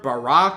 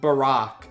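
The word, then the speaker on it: Barok: says his name, it's apparently pronounced Barack, like Barack Obama.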